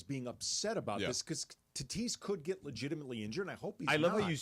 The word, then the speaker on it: Tatis: They I get the Padres's being upset about this cuz Tatise could get legitimately injured and I hope he's I love how you say it just like Pepe by the way.